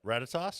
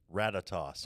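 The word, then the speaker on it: Ratatoskr: Ratatos. Yeah, that's a What is it? Ratatos. Okay. All right. I would have butchered that to death. Well, yeah. If you try to pronounce the R at the end, right?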